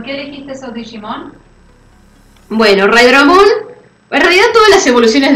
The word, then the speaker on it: Raidramon: Raidramon, lo pronuncié bien, ¿no? Sí, Raidramon.